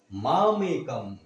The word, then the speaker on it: মামেকম্: মাম মাম এক কম এ কম এখানে এ মামেকম সরণম সরণম ব্রজ অহম অহম তুয়াম বলা থাকলে কি ওয়া উচ্চারণ হয় ওয়া তুয়াম অহম তোম সর্ব পাপে